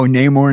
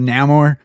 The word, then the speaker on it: Namor: Oh, Neymar instead of Namore.